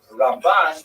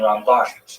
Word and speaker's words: Ramban: Rambam and Ramban is pronounced with the emphasis on the second syllable. Rambam and Ramban.